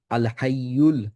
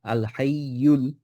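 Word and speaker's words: الْحَيُّ: নবরগুলি হচ্ছে যেমন আল হাইয়ুল, আল হাইয়ুল। আহ, এখানে ইয়ার উপর যে দাম্মা আছে, ইউটা যেন আমরা ঠিকভাবে উচ্চারণ করব।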